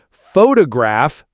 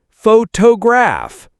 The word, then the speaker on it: photograph: Photograph, not photograph.